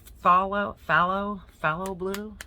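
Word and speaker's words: Phthalo: It's fallow blue. I guess the PH is silent.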